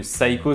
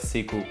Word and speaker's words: Seiko: de bien le prononcer j'ai appris dans les commentaires d'une de mes anciennes vidéos que Saiko ça ne se disait pas il fallait dire Seko il me semble confirme-moi ça en commentaire cette